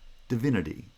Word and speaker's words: divinity: with schwa the of the third syllable is pronounced with schwa divinity again the final e is not reduced to